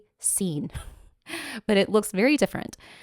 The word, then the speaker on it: casein: I have always been saying it Cassian Cassine. I just today for this episode finally looked it up. It is cine but it looks very different.